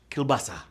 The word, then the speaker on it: kielbasa: the in the entree i'd go with polish kielbasa americans often just call it polish sausage but you know what i'm talking about 41 959 players got that right rhymes with mufasa q3 which celebrity offspring